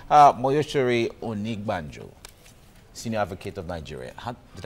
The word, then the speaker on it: Onigbanjo: Moyoshiri Onigbanjo, Senior Advocate of Nigeria. Did I pronounce that name wrong? Moyoshiri. Onigbanjo.